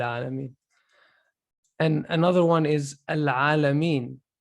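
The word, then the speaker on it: العالمين: That's why the lam is pronounced entirely. So we're saying al-alameen because it's easy.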